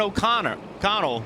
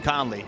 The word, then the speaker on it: O'Connell: So this is Kevin O'Connell, not Kevin Conley, starting in the 13 car.